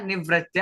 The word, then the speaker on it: निवृत्त: यहां पे नहीं है तो निर निर नहीं बोलना र का उच्चारण नहीं लेना निवृत्त सिंपल इतना आपको बोलना है देखिए क्या कह